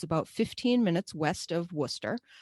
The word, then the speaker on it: Worcester: It's about 15 minutes west of Worcester, which is not pronounced anything like it looks like on paper.